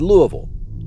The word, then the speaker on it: Louisville: According to legend, this bizarre creature lurks near Pope Lake Creek outside Louisville, and that is the way you pronounce it.